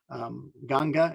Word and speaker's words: Ganga: right on the river ganges ganga is how they pronounce the name of the river there the the excuse